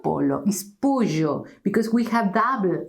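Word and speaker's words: pollo: the same but chicken is not polo is POJO because we have Double L so remember polo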